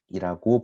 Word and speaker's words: deque: 자네 번째로 살펴볼 것은 deque인데 요거 발음에 좀 유의해주세요 deque는 덱이라고 부릅니다 우리 왜 카드 게임 할 때 덱 같은 거 있죠 그때 그 대기입니다 대기랑 발음이 동일하다라고 생각하시면 되겠습니다 그때 내기라 그래서 덱에